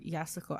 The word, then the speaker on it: Yasuko: I think it's Yasuko. Yeah, because usually the U after an S is silent for them. Yeah, they don't pronounce it.